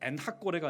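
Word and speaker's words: 엔학고레: 엔핫고레, 정확하게 발음하자면 엔핫고레가 아니라 엔핫고레입니다.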